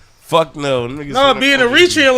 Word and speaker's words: Eritrea: And he is from Eritrea.